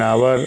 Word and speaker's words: hour: Engine, N आउल, एन आवर। आवर HOUR, आवर means घंटा होता है, जो समय का मात्रक है। तो आवर HOUR, एच साइलेंट है इसमें, OUR को ही पढ़ा जाता है, तो इसलिए एन आवर हो गया।